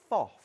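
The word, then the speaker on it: Pfaff: in German it's FOF. FOF. Most people say faff. Yes. Yeah, but it's pronounced FOF.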